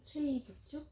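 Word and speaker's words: 生物: 세이부츠? 예. 생물 그렇게 쓰고 이끼모노라고도 읽고 세이부츠. 이끼모노라고 읽기도 하고 이렇게 해서 글자를 한자를 각각 세이부츠 이렇게도 읽습니다.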